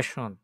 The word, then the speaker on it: schon: এটা schon আর এটা হচ্ছে schön। এটা schön আর এটা schon। একটু মানে pronunciation একটু ইয়ে আরকি।